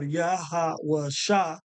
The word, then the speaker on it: Yahawashi: So that's the correct way of pronouncing this character, Sha. So we have Yahawashi, right?